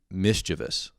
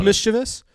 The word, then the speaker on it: mischievous: it it was uh mischievous and some people pronounce it mischievous mischievous it is mischievous it's mischief i think i was